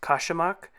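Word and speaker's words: Kačamak: It's called, I think, pronounced kashamak, and remember the waiter said, strong, you won't like it, but gives you energy.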